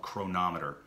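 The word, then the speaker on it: Cronometer: The one that I recommend the most, it's probably my favorite hands down, honestly, is called Chronometer. So it's spelled C-R-O-N-O, C-R-O-N-O, Chronometer, M-E-T-E-R. So it's like chronometer, all right?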